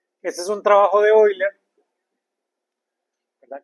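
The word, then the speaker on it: Euler: es un trabajo de Oiler, ¿verdad? Que lo pronunciamos Oila de 1776.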